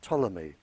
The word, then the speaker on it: Ptolemy: by the name of ptolemy uh spelled with a p he very famous scientist